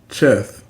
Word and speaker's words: Cheth: So to start things off, Cheth, also known as Heth, is the 8th letter of the Hebrew alphabet, representing the number 8. It is pronounced with a guttural sound similar to ch, ch.